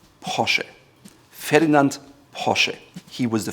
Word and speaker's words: Porsche: It goes all the way from Porsche or Porsche, but in fact, it's called Porsche. Porsche. Ferdinand Porsche. He was the founder. Porsche. Porsche. Not Porsche or Porsche, but Porsche.